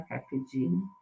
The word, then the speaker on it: carpe diem: Então, carpe diem, e essa mesma pronúncia, tá? É carpe diem, diem, tá? O latim não tem essa mudança, você lê como está escrito. E é sempre paroxítona, não é carpe nem diem. Carpe diem, elas são todas paroxítonas.